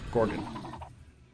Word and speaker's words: Gorgon: How to pronounce on YouTube. Gorgon.